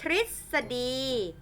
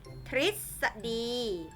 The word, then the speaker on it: ทฤษฎี: ไหม คะ ออก เป็น เสียง ริ ตอบ ๆ ทฤษฎี ทฤษฎี แปล ว่า อาบ ข้อ ความ ต่าง ๆ ที่ มัน เป็น แนว ทาง ความ รู้ นะ คะ เรียก ว่า ทฤษฎี ตอบ ๆ ตฤณ ตฤณ เหล่า นี้ คือ ตัว